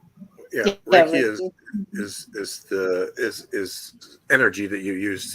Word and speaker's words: Reiki: Reiki? Yeah, Reiki is energy that you use to either heal, align chakras, and on as far as that goes.